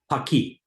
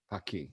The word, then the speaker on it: Paqui: So the pronunciation of the brand name. Paqui. Paqui.